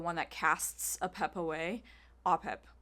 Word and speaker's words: Apep: Apep. It's how you say it. It's Apep. But in our film, we say it as Apep.